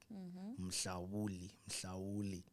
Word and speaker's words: Mhlawuli: Mhlawuli.